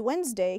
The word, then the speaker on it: Wednesday: pronunciation remember the word wednesday can be a little tricky has a d over there but we don't say it and the word thursday